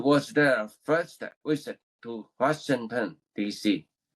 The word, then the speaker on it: Washington: Uh, say sure. Washington. Washington. Sh. Washington.